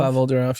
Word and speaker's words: Pavel Durov: So, I don't know how to pronounce Is it Pavel Durov? Pavel Durov, yeah.